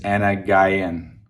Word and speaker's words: أنا جعان: Okay, Anna Guyana for a girl. So with the American accent, I think of it as Anna Guyan, like Anna Guy, like a guy and girl.